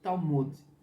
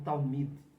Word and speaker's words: Talmud: recebe o nome de Talmud, ou Talmud, para ser mais exato com a pronúncia.